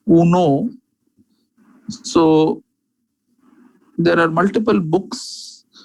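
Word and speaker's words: Cuneo: the anatomical surgeons is Cunard. The pronunciation is not exactly Cunard, it is Cuno.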